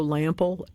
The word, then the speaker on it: Lampl: I will also tell you that the one and only Joe Lample, Lam PL, that's how his name is pronounced.